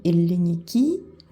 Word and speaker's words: ελληνική: Par exemple, i elliniki, l'accent il est sur la dernière syllabe.